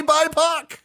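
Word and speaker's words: BIPOC: acronym for black indigenous and people of color pronounced BAC you're actually supposed to say bipac intended to consider the experiences of black and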